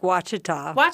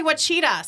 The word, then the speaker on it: Ouachita: Lake Ouachita. I was going to say Ouachita, so that's what I keep doing.